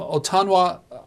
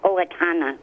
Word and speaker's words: Owatonna: He's their executive director from Otana, Minnesota. Apologies. You're first up. Chris, Independent Line. Go ahead. Yes, it's pronounced Owatonna, Minnesota.